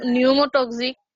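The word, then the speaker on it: pneumotaxic: respiratory centre আর হচ্ছে নিউমোটক্সিক centre তারপর হচ্ছে নিউমোটক্সিকোট নিউমোটক্সিকোটক্সিক শোনো pronunciation is very important hair নিউমোটক্সিক centre ঠিক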